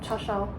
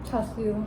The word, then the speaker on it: char siu: How do you say it in Canto? Cha shao. Char siu. Cha siu. Actually, in English, that's the name, right? Char siu. Like they literally transliterated from Cantonese.